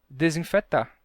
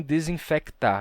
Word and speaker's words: desinfetar: verdade pensa em português no Brasil a gente diz e infectar a gente pronuncia né o c a gente diz infectar mas a gente diz desinfetar né o desinfetante desinfetar e não desinfectar a gente não compra um desinfectante tá então como vocês